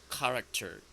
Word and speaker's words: character: This is like k sound character.